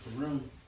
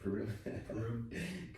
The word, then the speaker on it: Purim: Wherefore they called these days Purim, after the name of Pur.